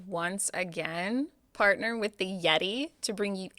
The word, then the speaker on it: Yetee: And remember, Yeti is spelled YETEE.